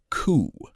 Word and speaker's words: coup: Coup, noun, pronounced coup.